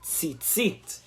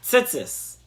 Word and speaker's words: Tzitzit: We are beginning to learn the laws of Tzitzit, or Tzitzis, in the Ashkenazic pronunciation.